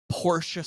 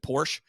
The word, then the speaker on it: Porsche: short of the stereotypical Porsche snob right he is always this is the guy that will correct the Layman when he pronounces it Porsche oh no no it's Porsche you know yeah yep